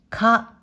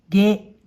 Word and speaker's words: 下: 音読みでか、か、またはげ、げ。訓読みでした、したと読みます。